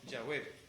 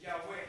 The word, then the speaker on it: Yahweh: Los hebraístas han llegado al acuerdo general de que la pronunciación original debe haber sido Yahweh.